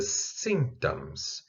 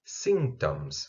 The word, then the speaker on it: symptoms: The symptoms. Symptoms. Observem que aqui tem um P no meio. Esse P, ele não é pronunciado.